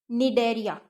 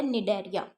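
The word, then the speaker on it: Cnidaria: Next है हमारा कोलेंटेरेटा या फिर निडेरिया। ठीक है। अब सी इसमें साइलेंट है, निडेरिया।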